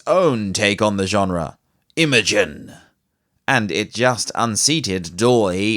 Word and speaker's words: Imagen: Last month, however, Google announced its own take on the genre, Imogen, and it just unseated DALL-E in the quality of its output.